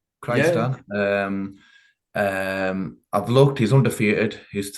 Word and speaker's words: Kyrgyzstan: So it's from a place called, if I pronounce it right again, Kyrgyzstan with a K. Kyrgyzstan.